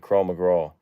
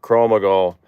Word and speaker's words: Krav Maga: And I want to take Krav Maga. I'm saying it wrong. Krav Maga. I always say McGraw because Tim McGraw, but Krav Maga.